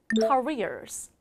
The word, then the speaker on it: careers: careers 그랬죠 여러분 여기서 중요한 발음은 careers careers입니다 사실 많은 분들이 얘를 캐리어라고 발음하시는 분도 계시는데 캐리어는 여러분 끌고 가는 가방입니다 그래서 careers 해주셔야 돼요 읽어 볼까요 careers careers